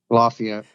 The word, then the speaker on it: Lafayette: Do you pronounce it Lafayette or Lafayette? Lafayette.